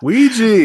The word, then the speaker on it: Ouija: Gather ra- gather round, everybody, and gather round the Wedgie wedgie board. Yeah. Ouija.